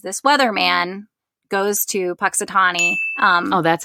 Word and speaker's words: Punxsutawney: what happens is this weather man goes to punxsutawney um oh that's how you say it yeah